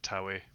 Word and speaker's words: Tawe: I would pronounce it Tawi, but it's up to you really.